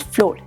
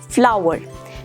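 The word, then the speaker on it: flour: floor is very funny it's not floor the correct pronunciation it's flower number two cocoa no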